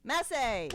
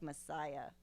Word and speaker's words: Masai: It's Masai. Masai. Like Messiah. Well, no. I'm going to think of it like that. Yeah. But it's like the warrior, Masai warrior, like as in the African tribe.